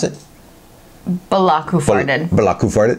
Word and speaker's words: Belloq: How do you pronounce it? Belloq Hoof Hearted.